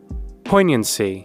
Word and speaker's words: poignancy: Like that one, I can kind of see the G silent, but why?